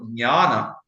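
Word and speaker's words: ज्ञान: So similarly for Jnana, Jnana, Dhyana, that is the right pronunciation as far as I know it. And Jna is basically a mixture of Ja and Nya.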